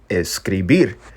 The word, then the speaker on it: escribir: word obscurity or darkness and today's word is escribir escribir again the spanish word of the week number two it's pronounced escribir and that's where you get the word scribe